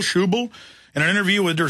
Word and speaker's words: Schäuble: money for too long qubool is how you pronounce it Wolfgang schäuble shoe boo in an interview with